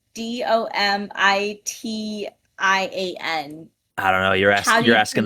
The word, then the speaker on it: Domitian: Suck It Dominion? Yeah, Dominion. Mm-hmm. But there's a T in there. Domitian.